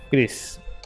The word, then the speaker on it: Kris: esto en Twitter hoy antes de que se pronuncia Cris no conozco todos los detalles sobre la situación